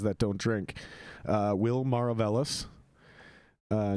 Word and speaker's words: Maravelas: don't drink uh will maravellis uh no one knows how to pronounce your name correctly that is how you pronounce it that is correct i just i've gotten